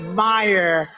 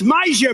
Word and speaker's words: Meijer: of the ten impeachers a guy who spells his name m e i j e r but they pronounce it meyer the hell kind of a spelling is that meyer meijer it's major but it's actually pronounced